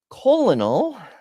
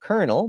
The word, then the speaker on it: colonel: Colonal, I don't know why Americans pronounce it colonel, but whatever.